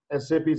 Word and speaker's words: SAP: have to know that it should not be pronounced as a sap it was sapi why because in a